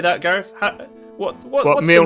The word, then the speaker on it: Mjolnir: But yeah, what I would say is, like, you know, Mjolnir has a J in it. You know, do people pronounce that? No, they do not.